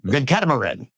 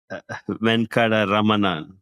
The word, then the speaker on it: Venkataramanan: But Venkataramanan. Venkataramanan. Ramanan. See, I lost one. There's one syllable less. But what you said was actually a common name. It's just that mine has one extra syllable.